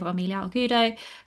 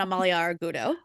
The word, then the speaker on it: Amalia Argudo: great young talent with Ailia Algudo, Claudia Pa, etc. I said both of those names completely wrong. I do apologize. I absolutely did. I love you so much. Yeah, I I cannot pronounce Claudia. Claudia Pñena and Amalia Argudo.